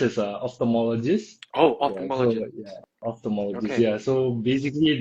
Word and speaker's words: ophthalmologist: What is an optomatologist if I'm pronouncing it correctly? Yeah. So it's pronounced as a opthalmologist.